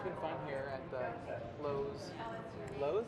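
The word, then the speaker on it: Loews: yeah, it's been fun here at the Lowe's. Lowe's? Is that how you say it? Because I feel like I'm saying the hardware store. No, it's Lowe's. It is? Yeah, it's Lowe's. How L-O-E-W-S.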